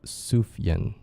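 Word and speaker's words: Sufjan: The name is pronounced Sufyan. The J is like a Y.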